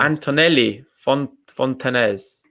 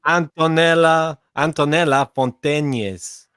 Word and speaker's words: Antonella Fontañez: And we've got Antonelli Fontanez. Also Diego fan. Antonella Fontañez. Come on, let's get that pronunciation right.